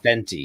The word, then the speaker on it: Fenty: Fenty. Which rhymes with Fendi, by the way.